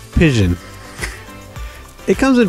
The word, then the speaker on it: Pision: We're going to pronounce it as though it was fission with a P. Pision.